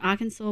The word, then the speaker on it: Arkansas: Arkansas, pronounced Arkansas, was named for the French plural of the Native American tribe Kansas.